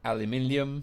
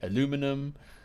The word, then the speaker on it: aluminium: anything of you know we say aluminium you say aluminum you say root you